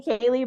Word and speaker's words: Cali: ever asked you if it's pronounced Callie or Kaylee I just kind of went with Cali so what do you think it is technically Kaylee but I people call me Cali all the time especially if